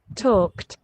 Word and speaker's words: talked: দেখো আমরা ইডি দিয়ে উচ্চারণ করি টকড, কিন্তু টকড-এর আসল উচ্চারণটা কি দেখো তো? আসল উচ্চারণ কি? It's T last. ইটস টি। talked, ট উচ্চারণ করে ট। ওকে, ইডিটা উচ্চারণ হয় টি এর মতো।